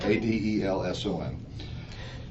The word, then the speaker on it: Adelson: It's Adelson. Actually, it's spelled right. I said it wrong. Adelson.